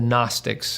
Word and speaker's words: Gnostic: the the title The gnostics it starts with a g there's a silent G g at the beginning g n o s t i c Gnostic um it it's a